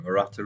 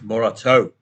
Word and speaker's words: Morata: That's not Alvaro Morata, is it? No, it's not. It's Morato. Rhymes with tomato.